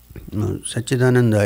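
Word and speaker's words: Satchidananda: word such in Ananda sat-chit-ananda is not one word it's three syllables put together of course one word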